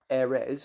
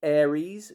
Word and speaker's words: Airres: Note I said Airres, because if you look, it's short for air resin. So many people say Aries. It's one of the things that just pulls my pubes when I hear people pronounce it Aries. It's not. It's Airres, as in air resin.